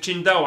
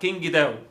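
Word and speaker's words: Qingdao: مشكله اشحنهم لك من تشينداو عادي، بالمناسبه اسمها تشينداو لكن عندنا في مصر بينطقوها كينج داو، وهي مش كده خالص.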